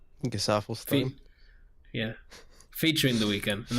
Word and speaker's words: Gesaffelstein: Gesaffelstein.